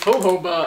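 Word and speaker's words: jojoba: know to pronounce thanks is that with the J yeah you don't say it like Jo I that's what I thought it was and then everyone was like no it's hoba and I was just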